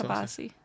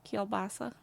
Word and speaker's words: kielbasa: Is it sausage or It's kabasi? Sausage. Kielbasa. Yeah. I butchered that.